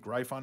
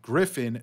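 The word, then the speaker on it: Gryphon: X page it's pronounced Griffin not gyon if in doubt think of the guy from uh Family Guy Griffin anyway Griffin mining is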